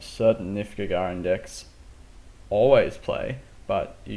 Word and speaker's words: Gagarin: immediately our parents play a ganger in deep space tech or Gagarin deep space tech I believe it has been revealed to me is the correct pronunciation I will say good